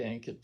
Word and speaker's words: Ankit: So luckily, Ankit rhymed with blanket, and I never forgot his name.